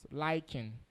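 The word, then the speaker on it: lichen: is called L chain I be lying proper pronunciation is lying now that lying those green things is made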